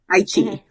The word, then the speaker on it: iQIYI: You watch it on the one that I always pronounce wrong. iQIYI. Okay. Chi. Okay. iQIYI.